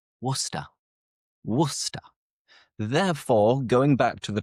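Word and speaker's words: Worcester: this podcast is wor because most people looking at how it's written they would think ah it must be pronounced warcest right warster but no we don't pronounce it like that it's simple just wora Therefore, going back to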